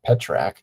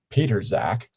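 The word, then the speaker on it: Pitrzak: First of all, I don't think anyone was pronouncing his name to be pronounced that way. Uh, P I T R Z A K. I was going with um Peter Zack, which sounds like two people, Peter and Zach.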